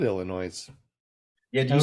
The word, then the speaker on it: Illinois: is it our Kansas is Illinois I have a S at the end if you're not supposed to pronounce it I know and when